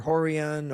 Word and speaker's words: Rorion: So whether it's Royce that you might know from the UFC, or Rickson, or Horian, or any of the other guys whose name actually start with R, but it's pronounced H.